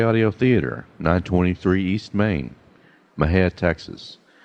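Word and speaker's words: Mexia: send to M&J audio theater 923 East Maine Maha Texas Maha is spelled me x a our ZIP is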